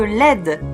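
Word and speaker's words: LED: les del diode électroluminescente plus connus selon la prononciation anglais sous le nom de l'aide ce sont des petites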